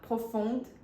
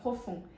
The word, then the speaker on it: profond: correta seria Plus o outro erro que Ele comete é falar Prof ao invés de falar profund ele usa a palavra no feminino e era para ter usado no masculino no feminino a gente pronuncia o d porque termina em e Prof e no masculo a gente não pronuncia D minha nota ele também